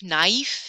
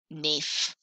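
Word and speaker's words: naïf: Remember, the tréma separates two sounds, so it makes it a-i, aif, naif, instead of a, naif.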